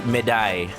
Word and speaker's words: médaille: French don't pronounce the S on Plural Wars. Okay, so it's médaille. Just médaille. There's so many silent letters in that. It just feels like I'm not saying enough of them.